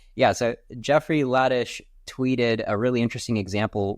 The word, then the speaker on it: Ladish: it already is, Jeffrey Liddish tweeted, um, I think I say his name, right? Right. Ladish.